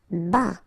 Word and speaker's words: bas: Bas, final S not pronounced.